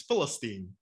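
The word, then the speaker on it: فلسطين: was that um the the arabic pronunciation for palestine is philistine and so i don't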